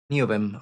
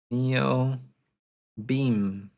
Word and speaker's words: Neovim: Because my wife thought that it was that Neobean, how is it pronounced now? I'm confused. Neovim. Okay, my wife thought that Neovim was written like this. Neo beam.